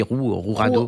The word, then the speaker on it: Jurado: Donc je crois que le J, on dit Rourado. Rourado, voilà, pas mal.